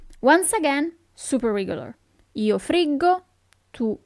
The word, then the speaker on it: friggo: Io friggo, tu friggi, but pay attention to the sound. The sound, the pronunciation of the verb changes. Io friggo, tu friggi, lui, lei frigge, noi friggiamo, voi friggete, and then it changes again. Essi friggono. Okay?